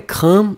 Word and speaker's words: craint: Bickert, ouais, craint. Regardez à l'écran, Bickert. Maintenant, vous voyez avec un T, on prononce pas.